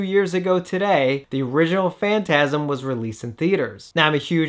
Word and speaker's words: Phantasm: a young kid, and I couldn't figure out that the PH was actually a F sound. So I was like, Phantasm, like I couldn't pronounce it.